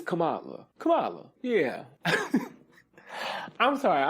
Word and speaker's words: Kamala: Kamala Kamala Kamala no because it's Kamala it's Kamala how been how I be want to say it yeah it's Kamala Cala yeah I'm sorry